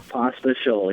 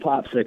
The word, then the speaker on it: Pospisil: We're talking with the runner-up for the 2015 SLMR Series Championship, Pospisil, joining us on the phone. And, I got to get a clarification just to start off with. Pospisil? Pospisil, yep.